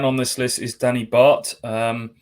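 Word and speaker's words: Bath: is danny bart um some people call him danny barth because it's spelt b-a-t-h but he was on loan at colchester when i was covering them and he was at pains to tell me it's danny bart so there you go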